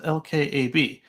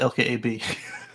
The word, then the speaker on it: LKAB: time uh Andrew says I said it wrong it's pronounced lkab uh yeah I'm gonna stick with lkab it's a joint stock